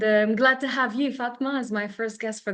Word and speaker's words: Fatmah: So, Fatmah Azam Ali, correct me if I'm mispronouncing your name, Fatma.